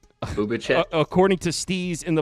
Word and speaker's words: Bubic: You're actually pronouncing that wrong. It's not Bubic. It's Bubic.